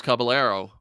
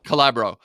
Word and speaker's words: Calabro: the reason they're asking is because yourself uh and Thomas Caballero. Am I pronouncing that right? I don't have the Calabro. Calabro. Yeah, Yeah, right.